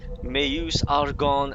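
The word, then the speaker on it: Meuse-Argonne: World War where he took part in the may use Argonne offensive pronounced that proper he is one of the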